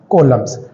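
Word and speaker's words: coulomb: जो इसका SI standard international unit होता है वो हमारा क्या होता है, कॉलम्स। प्रोनाउंसिएशन के अंदर आप कूलाम भी बोल सकते हो।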